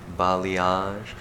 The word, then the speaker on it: balayage: thrown at them like balayage and the correct way to say it balayage and ombre so we're